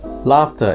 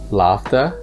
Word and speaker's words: laughter: they pronounce completely differently laughter is pronounced with a long ah and the gh is pronounced like an f meanwhile in daughter the